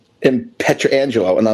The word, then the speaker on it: Pietrangelo: It's just Pietrangelo, not Pietrangelo. Like, let's shorten it up. Small, less vowels. I mean, less syllables, right?